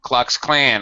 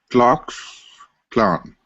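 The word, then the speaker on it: Klux Klan: right um do you should not say the clue cluck Clan although everybody does yeah it actually is go clock Clan very good who are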